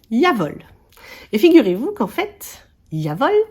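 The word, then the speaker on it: Jawohl: à moi donc voilà ça se prononce yavol et figurez-vous qu'en fait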